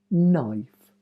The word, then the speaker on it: knife: knives knit night CN first letter is silent KN new knife KN knit knives p